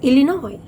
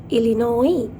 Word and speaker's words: Illinois: and uh I s sometimes the S is silent so le noise becomes Illinois Illinois underlined the hard world